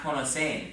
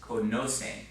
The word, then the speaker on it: conocen: No, not conocen. It's conocen, right?